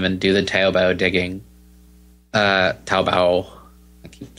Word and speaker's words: Taobao: Taobao. I keep saying it wrong. Taobao.